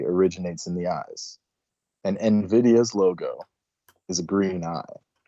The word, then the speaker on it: NVIDIA: NVIDIA, pronounced NVIDIA, was carefully chosen because of its nuanced meaning tied to vision and envy.